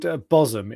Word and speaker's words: Bosham: If you go onto YouTube and search Bosham car, be it Bosham, it's pronounced Bosham, it's spelled Bosham car wash.